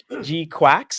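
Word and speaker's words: GQuuuuuX: I'm very happy that the article I found actually spelt out how to pronounce it properly, because I was like, Oh, did they? Okay. Yeah, G Quacks.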